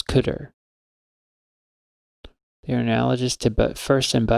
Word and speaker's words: cdr: but the first element is called CDR just pronounce cutter your analogous to but